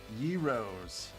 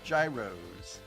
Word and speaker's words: gyros: Tom and Jerry's Euros they're pronounced Yos they are not Gyros they are Euros anyways the uh uh